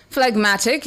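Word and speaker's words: phlegmatic: Flegmatic is your word of the day.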